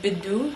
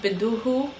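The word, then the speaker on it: بده: for he want i said bidu not biduhu for some reason in levantine colloquial that h just kind of gets dropped makes it a little bit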